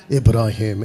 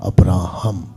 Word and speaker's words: अब्राहम: सी, परमेश्वर इब्राहिम नहीं बुलाता, परमेश्वर अब्राहम बुलाता है।